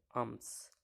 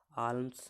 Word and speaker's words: alms: এখানেও দেখুন একই রকমভাবে আমস, ALMS, এখানে এম উচ্চারণ হচ্ছে, কিন্তু এল উচ্চারণ হচ্ছে না, আমস, আলমস নয়, আমস, ALMS তো আলমস হতো, কিন্তু এখানে আমস, AMS এতটুকু উচ্চারণ হচ্ছে।